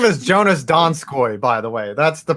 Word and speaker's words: Jonas Donskoy: I thought he said Jonas Dinskali. His name is Jonas Donskoy, by the way.